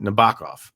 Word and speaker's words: Nabokov: Nabokov.